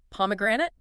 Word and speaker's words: pomegranate: The stress pattern here is absolutely essential if you want to sound native. It's poor. Right on the first syllable. A really heavy stress on that first syllable. P. If you misplace it, if you put it on the third syllable, which learners sometimes do, the word becomes almost impossible for a native ear to understand.